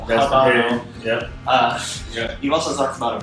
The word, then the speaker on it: Habano: I pronounce that hard H just for hitting the Habano.